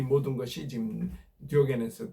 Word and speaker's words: 디오게네스: 이 모든 것이 지금 디오게네스 다이오지니스라고 발음한 디오게네스의 그 말이었습니다.